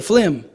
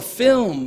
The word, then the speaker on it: film: flim like oh a film oh okay but in trinidad flame is an acceptable pronunciation as well yes thank you for